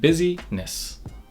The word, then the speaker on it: busyness: What this means is that the first part is pronounced just like the word busy, and the second part is the last part of business. We have busyness.